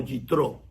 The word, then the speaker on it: Yitro: lo conocemos y en hebreo lo conocemos como yitro ese es el nombre de este personaje que